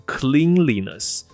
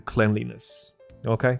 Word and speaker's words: cleanliness: ，你就会以为变成 cleanliness。可是不是，这个字的名词发音是 cleanliness。OK， cleanliness 就知道就是 OK。